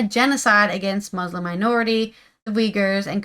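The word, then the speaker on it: Uyghurs: we weers in China possible it's called It's pronounced weers I just discovered I've been saying yeah like yugar because it's with a u but it's actually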